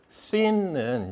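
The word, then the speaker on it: σύν: 히라버로 쓰게 되면은 이제 이거의 발음을 Y로 볼 건가 U로 볼 건가 그건데 쉰 그러니까 Y처럼 이렇게 봐요 많이.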